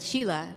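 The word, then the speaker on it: Síle: have heard that name but sheila for the irish version of it is spelled s-i-l-e those crazy irishman this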